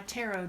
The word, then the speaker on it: tarot: deck taro or taro this is a French word so there is no T on the end it would not be under any circumstances to rot or tear it just not not it and I will say